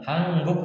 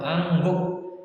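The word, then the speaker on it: 한국: Hangguk atau angguk. Kalau hangguk masih banyak yang mengucap hangguk, mungkin 50-50. 50% menyebut hangguk, 50% menyebut angguk.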